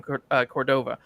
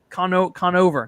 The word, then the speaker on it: Conover: the Pod save America with um either Adam Cordova uh what's his name Adam I said it wrong didn't I uh I think that's it Conover Conover Conover Conover there we go um and